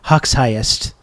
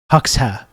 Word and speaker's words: Hoxha: Well, when I was on like The Breach during the last election coverage, I incorrectly pronounced it Hoxhiest. Hoxha, which is not how you do it.